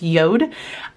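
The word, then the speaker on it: Jord: with a company called yod watches um spelled j o r d but it's pronounced yod and they sent me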